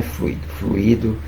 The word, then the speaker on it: fluido: Fluido realmente não é o correto. Fluidos. Acentuação no U, né? A sílaba tônica nos fluidos, e não fluidos.